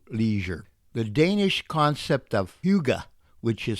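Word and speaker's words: hygge: D's truly value Leisure the Danish concept of Huga which is spelled h YG G is about enjoying the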